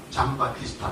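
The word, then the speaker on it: Giambattista: 요게 그러니까 잠바티스타. 이탈리아 말로 하면 그렇게 가는 겁니다. 잔 바티스타가 되는데 이탈리아 말에서도 잠조편이 있어요. 그러니까 잔 바티스타가 뒤에 나와서 잔 바티스타 이렇게 발음이 되어가지고 하는 건데요.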